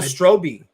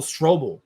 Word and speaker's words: Strobel: of these people um bill stroby I hope I pronounced that right Bill strobe it's Bill Strobel okay I do have